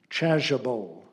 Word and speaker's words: chasuble: Your word is chasuble. Chasuble. Alternate pronunciations: chasuble, chasuble.